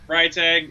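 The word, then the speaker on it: Freitag: they both are yeah fry tag is how i say it yeah right dog if you want to be all german about it works too yeah mine's healers people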